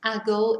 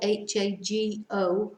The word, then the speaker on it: hago: In the first person it's hago, H-A-G-O. We don't pronounce the H, so it's just hago.